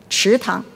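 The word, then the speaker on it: 池塘: Now, the pond is pronounced what? Tang, right? Chi tang.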